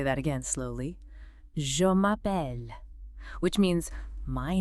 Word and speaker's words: Je m'appelle: giving you a chance to really hear the pronunciation. First up, to state your name. Je m'appelle. Let me say that again slowly. Je m'appelle, which means my name is. That's the classic one, right? Je m'appelle.